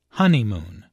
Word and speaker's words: honeymoon: Listen to the stress on honeymoon. There are 3 syllables in honeymoon, with a stress on the first syllable, honeymoon.